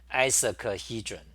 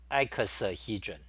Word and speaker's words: icosahedron: Sometimes I say isocahedron, but it's icosahedron, not isocahedron.